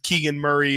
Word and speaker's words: Keegan Murray: it really was just a coincidence that it's Keegan Murray is two syllables and it worked out and it turned